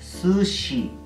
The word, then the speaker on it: sushi: tienen mayor dificultad en pronunciar la sh de sushi es sushi sushi ok dejen la huachafería